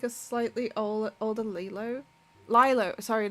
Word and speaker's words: Lilo: Lilo, right? Lilo. Like Leela, isn't it?